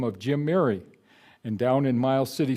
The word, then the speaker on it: Muri: the name of jim mary and down in mile city some people pronounce it mirai but miri is the pronunciation we'll use it's a norwegian name and it talked about